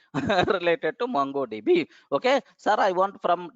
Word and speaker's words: MongoDB: It is not Mango. It is the MongoDB only by mistake. Because mango is more popular than mango, that's why the people are using mango. Okay, even sometimes I pronounce it as mango also earlier, but now it is mongodb.